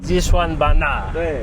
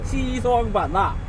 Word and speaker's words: Xishuangbanna: Even my taxi driver had to teach me how to pronounce the name. Xishuangbanna. Xishuangbanna. Xishuangbanna.